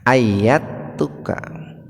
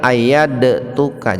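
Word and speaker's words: أيدتك: saat itu ketika Aat Nah itu ayat tuka jadi membacanya Jangan ayad tuka jangan begitu Pak sekalipun Dal itu Sukun dan bagian dari huruf Qalqalah tapi membacanya diidgamkan dimasukkan ke huruf ta ayat tua ketika Allah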